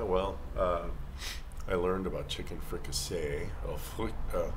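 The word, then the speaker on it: fricassée: And then you have to add the extra E for the feminine, oy, but you don't pronounce it.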